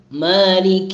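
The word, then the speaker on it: مالك: പിന്നെ ഉള്ളതാണ് മാലിക് യൗമിദ്ദീൻ, മാലിക് യൗമിദ്ദീൻ. മാലിക് എന്ന് പറയുമ്പോൾ അവിടെ ഫത്തഹാണ്, മാലിക് മാലിക് അങ്ങനെ ചെരിയാൻ പാടില്ല, പലരും ചിരിക്കുന്നത് മാലിക് ഉഷാറാക്കുകയാണ്, പക്ഷെ അത് തെറ്റാണ്. മാലിക് യൗമിദ്ദീൻ അങ്ങനെ മേ എന്നായി പോകാൻ പാടില്ല.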